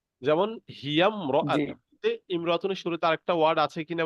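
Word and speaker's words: امرأة: দেখেন সবাই খেয়াল করি ইমরতুন শব্দের আগে অন্য শব্দ হলে আলিফটি শুধু লেখা আসে উচ্চারণে আসে না লেখক বুঝাতে চাচ্ছেন ইমরাতুন শব্দের শুরুতে যদি আরেকটা ওয়ার্ড থাকে তো সেক্ষেত্রে এই যে আলিফটা দেখতে পাচ্ছি এই আলিফটা কিন্তু পড়াতে আসবে না লেখাতে আসবে ঠিক আছে যেমন হিয়ামর ইমরাতুনের শুরুতে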